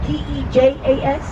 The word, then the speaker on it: Tejas: Here on the right is the Tejas Grill Sports Bar. But notice the name. You see how it's spelled T-E-J-A-S? That is the original pronunciation for the word Texas. It's pronounced Tejas, and the word Tejas means friendly ally or friend.